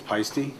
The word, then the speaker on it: Paiste: of uh meditative side the correct way to say it actually is paiste um it is uh it is a uh you know german name swiss name it's a european thing